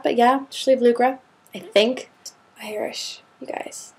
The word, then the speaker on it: Sliabh Luachra: This region is known as the Schlucra region. Maybe I can throw that up on the bottom right there because it does not look at all like it's pronounced like that. But yeah, Lucra, I think Irish, you guys, it's crazy language.